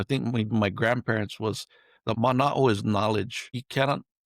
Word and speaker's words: mana'o: and or I think my grandparents was the mana'o is knowledge.